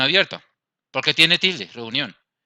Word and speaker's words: reunión: Reunión. Porque tenemos el acento en esta sílaba, reunión.